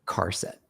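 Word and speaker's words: charset: Char set UTF-8. And now this string here will be the string, char set UTF-8. Mm-hmm. Car set. Some people say it with a hard C.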